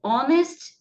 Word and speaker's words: honest: E também, pessoal, palavras que o H é mudo. São poucas, acho que só 4 palavras no inglês em que o H é mudo. Então, nesse caso, o H ele só está ali na escrita, mas não vai fazer parte do som.